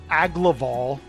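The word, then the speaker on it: Agloval: But this guy, Aglaval, that's how I think his name is pronounced.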